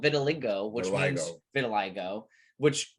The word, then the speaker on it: vitiligo: I think that he had gotten plastic surgery because as he was growing older, besides vitiligo, how do you say?